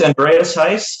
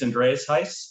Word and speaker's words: Andreas Heiss: we have andreas heiss andres if i mispronounced your name i apologize no you're good it's andreas heiss uh my name is andreas heiss and i'm the northeast